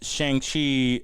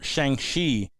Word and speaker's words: Shang-Chi: boss came out and called shang chi uh in or shang shi as it's supposed to be pronounced an interesting experience